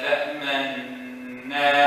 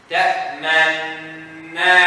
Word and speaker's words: تأمنا: Pronounce the first noon. Do the lips, then continue fatha.